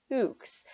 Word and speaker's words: toques: 25,000 toques. That is the pronunciation.